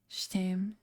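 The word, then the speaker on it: Je t'aime: Jetame is pronounces close to the mix between ch and aim, so Shtam.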